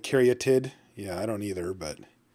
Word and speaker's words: Caryatid: Yes, it's Caryatid. That is how it's pronounced.